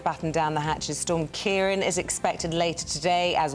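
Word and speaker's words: Ciarán: What do you call the thing over the A again? A fada. A fada. It's Storm Kieran. Kieran, got it. Kieran.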